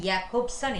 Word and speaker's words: Jakobson: to correct that okay roman yakubson is the exact pronunciation so now next uh